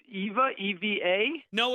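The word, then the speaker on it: Ewa: I'm here I'm here I made it it's Eva Evy a no it's II W a for some reason it's pronounced Eva but I don't know why I don't don't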